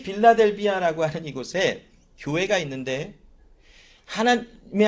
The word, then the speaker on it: 빌라델비아: 오늘 본문에는 한국말로 빌라델비아라고 나와 있어서 발음하기가 좀 어색하기는 합니다. 필라델피아인 것 같은데 아마 번역을 하면서 빌라델비아라고 아마 기록을 한 것 같은데 발음하면서도 굉장히 웃었어요. 여러분, 아무튼 이 빌라델비아라고 하는